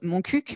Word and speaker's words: Montcuq: Et le chemin de Saint-Jacques-de-Compostelle passait dans cette belle ville qui se prononce Montcuq, mais qui s'écrit Montcu.